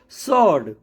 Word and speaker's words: sword: सॉर्ड, सॉर्ड में SORD, सॉर्ड, आप SORD लिखिए तब भी सॉर्ड बोलेंगे, SWORD लिखिए तब भी सॉर्ड बोलेंगे। तो जब भी कभी S